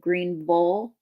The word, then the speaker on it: Greenville: differently around here again the town that I live in Greenville they call it green Bowl um like Louisville yeah yeah but it's only